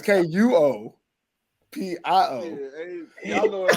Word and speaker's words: Kuopio: KOUPO Steeler.